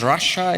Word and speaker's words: Russia: And I was already introduced, so I won't spend too much time saying my name is Russia. It's pronounced like the country.